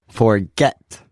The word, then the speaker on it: forget: the first syllable lesson another two-syllabic word is forget this one has a stress on the second syllable forget now where would the